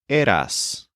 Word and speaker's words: eras: So the kid's word is eras, similar to your era, but with a hissing sound at the end.